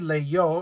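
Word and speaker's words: leyó: most common y verb is leer he read Leo l e yo Accent on the o to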